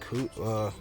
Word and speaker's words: Kikuchi: Love this spot for him, going against Kikuchi, that's how you pronounce it.